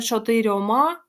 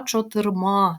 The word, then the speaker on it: чотирма: орудою скількома двома трьомачотирма зверніть увагу не чотирьома там немає м'якого знака вже всередині а чотирма твердо вимовляємо звук місцевий на скількох на